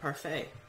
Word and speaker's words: parfait: people yeah means perfect in French how you pronounce it parfait the peanut butter parfait which means which means